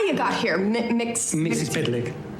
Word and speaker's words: Mxyzptlk: I don't know who you are or how you got here, Mxyzptlk. It's spelled like it sounds.